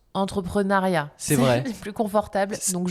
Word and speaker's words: entrepreneuriat: Alors, ça s'écrit entrepreneuriat, on le prononce entrepreneuriat.